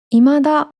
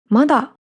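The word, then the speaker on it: 未だ: 未来の未っていう漢字は、後ろにひらがなのだをつけると、今だとかまだと読みます。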